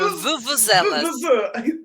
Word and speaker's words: vuvuzela: I remember vuvuzelas. There we go, exactly, a vuvuzela. Vuvuzelas. Now, we do pronounce that with a VU, so it's vuvu, vuvuzela. Vuvuzela.